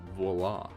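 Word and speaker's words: voilà: to your friends I don't think I do voila guys voila for those of you who are uncultured that means Tada expect except it's spelled voila and it's pronounced VOA I have pulled a rabbit out of my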